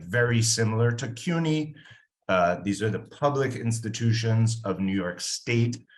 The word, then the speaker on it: CUNY: So there's a network of public institutions in New York City referred to as CUNY, or the pronunciation of the acronym CUNY, or the City University of New York.